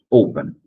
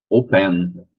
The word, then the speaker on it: open: Open. Não é open, é open. A primeira sílaba é a mais forte.